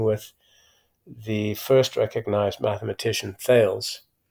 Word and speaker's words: Thales: the first recognized mathematician, Thales. In Greek, you pronounce that Thalis, and his discovery of parallelism.